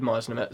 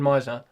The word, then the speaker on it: Meisner: Sanford Misner. Yeah. Yeah. Yeah. Yeah. I remembered how to spell it for some reason. I just couldn't say it. Uh Sanford Meisner. Sanford Meisner. Sanford Meisner. Right, cool.